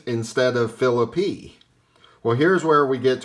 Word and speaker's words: Phillippe: Actor Ryan Phillippe, who is a distant relative of the baseball player Deacon, pronounces his name Phillippe.